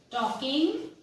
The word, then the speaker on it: talking: Your question is, who is the poet talking? T-A-L-K-I-N-G, talking, L is silent here, talking about.